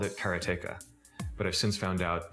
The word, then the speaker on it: Karateka: A lot of people say karateka or karateka. In Japanese, there's no stress on any syllable, so it would be karateka, something like that. I called it karateka, but I've since found